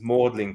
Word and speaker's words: Magdalene: well I guess it's like Magdalene College Oxford is mlin college yeah so it's just